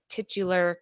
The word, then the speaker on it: titular: While every core Spider variant has their moment to shine, Miles proves that a Spider-Verse movie would not be possible without this titular character.